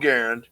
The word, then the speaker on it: Garand: I mean, so when I grew up, my father had an M1 Garand, and yes, for those wrinkling your fucking nose, that's how you pronounce it, because John Garand invented it.